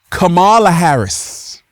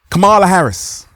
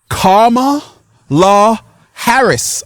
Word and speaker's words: Kamala Harris: Donald Trump former president Camala Harris vice president I was saying Camala Harris right Kamala Harris and someone said Ralph it's Kama La Harris okay Cala Harris okay